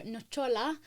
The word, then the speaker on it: Nocciola: So Nocciola, so like the same sound as ciao is in the middle there. Right. Because when people read it,